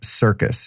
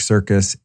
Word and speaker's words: Sircus: Mark Sircus, and his last name is not spelled like the circus that's mean to animals. It's Dr. Mark Sircus, Sircus.